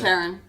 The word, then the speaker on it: Taron: Tarin? Taron. Oh, okay. Taron.